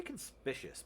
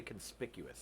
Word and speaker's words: conspicuous: four of our cards I say conspicious but it's actually conspicuous isn't it what weird